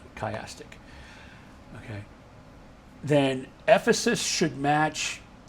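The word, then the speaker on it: chiastic: a s t i c, that's how you spell it. Kyastic.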